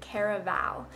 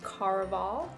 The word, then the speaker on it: Caraval: I've listened to an interview with Stephanie Garber and she calls it Caraval, but I listened to the audiobook version and in that it is pronounced Caraval. I like Caraval better, even though obviously it's not what the author intended.